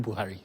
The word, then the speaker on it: Buhari: the and they have a very unique way of pronouncing the name bhari yeah like the H goes silence and then the the r is pronounced the set rule of the tongue yeah yeah yes almost like a French pronunciation it is a clip